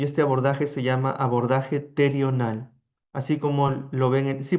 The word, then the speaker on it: pterional: Para esta clase vamos a hablar del abordaje terional, así como se escribe PT R I O N A L.